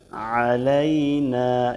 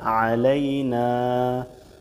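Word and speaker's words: عَلَيْنَا: আছে আসসালামু আলাইনা আলাইনা এখানে আইন দিয়ে চাপ দিয়ে আলাইনা বাংলা উচ্চারণ দেখুন আসসালামু আলাইনা আছে এখানে ভুল কিন্তু বলতে হবে কি আসসালামু আলাইনা আলাইনা এখানে এই আইন যেহেতু এখানে চাপ দিতে হবে আলাইনা আসসালামু আলাইনা অর্থ আমাদের উপর শান্তি বর্ষিত হোক।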